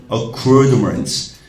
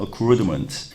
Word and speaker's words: accoutrement: 그런 의미가 accoutrement. 이게 원래 불어에서 유래한 단어라서 발음이 좀 이상해요. 원래 프랑스어였다고. accoutrement, accoutrement.